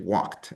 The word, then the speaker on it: walked: past tense of walk, it's not just walked with a D sound at the end, but you have more of a T sound at the end, right? Walked.